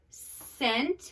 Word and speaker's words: scent: okay we have bark scent we know that's a soft C because it's followed by one of those lookout letters e I and y fine I consonant easy